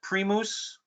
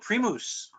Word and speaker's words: Primus: badami mom what's that I've been saying the product name wrong yes so the Germans in Germany it's called pre mousse Premal okay I call it Primus because I'm American and lazy and that's what